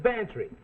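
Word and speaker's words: Bantreagh: that's spelled m-a-c-l-e-od well this is Bantry go spell it fancy sounds like Pantry I know Gambler Max we'll get this for free it sounds like Pantry that spells b-a-n-t-r-e-a-g-h you lost your sin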